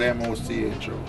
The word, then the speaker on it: Mocho: I wouldn't know really, but it's spelled M-O-C-H-O. All right. We call it Mocho.